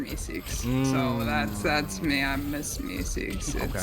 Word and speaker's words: MsMeseeks: Speedy, you got any questions for MsMeseeks? Is that how you say it? Yeah, MsMeseeks. Like, have you seen Rick and Morty?